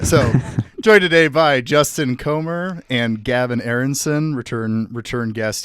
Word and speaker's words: Comer: Is that how you pronounce Comr? I should have checked. Yeah, you got it. Okay, you got it. I should have checked before I started recording. And uh so joined today by Justin Comr and Gavin Aronson, returned guest here.